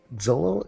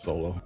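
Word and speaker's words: Xolo: Yeah, Zolo. Is that how you pronounce his name? I believe it's I believe it's Solo.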